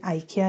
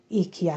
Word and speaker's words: IKEA: English में इसकी pronunciation आइकिया है और डॉइच में इसकी प्रोनाउंसिएशन इकिया है।